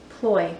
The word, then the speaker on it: ployes: Okay, so Ploy, P-L-O-Y-E-S, that's how you spell it.